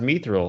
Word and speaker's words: Mithril: There's no E. There's no ME. No, it's pronounced Mithril.